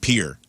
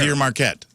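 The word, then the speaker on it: Pere Marquette: It's not Pierre, but it's Pier Pier. Pier Marquette. It's pronounced like Pier.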